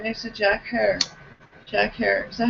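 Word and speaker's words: Herer: She sat with right next to Jack Hare. Jack Hare. Is that how you say his name? Is Hare. Hare. I hear people call it rhymes with tear. Right. Jack I hear Hare. people say Herrera.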